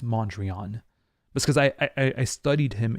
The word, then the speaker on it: Mondrian: in my video on Mondrian I say mondria because in French we say mondria and so many people